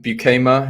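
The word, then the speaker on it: Beukema: I think it's that Sam Bukema, if I'm pronouncing it right. Bukema, yes.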